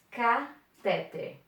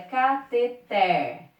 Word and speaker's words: cateter: Mas a pronúncia dela é cateter. Cateter. Cateter é uma oxítona terminada em R.